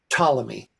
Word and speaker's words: Ptolemy: and the first and how do you say patomi column just Ptolemy ptolemyex drop the p and was employed at